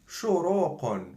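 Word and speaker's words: شروقٌ: Qun, qaf with two dhammat, qun. For example, shu, ro, qun, shuruqun, sunrise.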